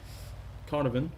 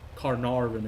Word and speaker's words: Carnarvon: for donson c and the carnavan carnarvon excuse me for the right pronunciation oh that bounce hit